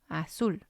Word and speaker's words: azul: then we have azul azul it means blue and again it has two syllables and we're going to stress the last one a soul and again here we